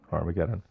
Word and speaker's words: Har-Mageddon: Did I pronounce that right? That's right. Har-Mageddon.